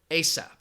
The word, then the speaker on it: ASAP: And an acronym is pronounced as a single word, ASAP. Now, if somebody says, I need it ASAP, do you know what that means?